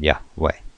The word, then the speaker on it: Yahweh: at the Hebrew anyway the original personation pronunciation was lost many centuries ago but the available evidence indicates that it was on all likelihood yah way uh the components of